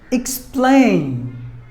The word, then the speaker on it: explain: Word number 9, explain. Explain. It's a verb. Explain. There are 2 syllables in this word, and we have to stress the second syllable.